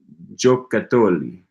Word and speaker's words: giocattoli: I have been pronouncing that wrong all day. I giocattoli. Cheshire Cat admires my devotion to languages. Thank you. Thank you very much. Giocattoli. Giocattoli. Stress on that cat.